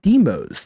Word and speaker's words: Deimos: ambush and lethal demos I have chat telling me it's pronounced demos thank you chat appreciate